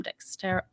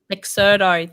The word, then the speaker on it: Dexerto: We've got some really interesting people on the panel, like Domino Jack, people from Dexter. He told me I'm saying it wrong. It's not Dexerto? Dexerto, thank you.